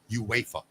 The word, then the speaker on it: UEFA: It's UEFA. Oh, is that what it is? UA pronounce it UEFA.